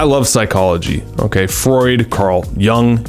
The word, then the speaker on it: Jung: of Buzz I love psychology okay Freud Carl Young Jung depending on how you pronounce it and there was a third guy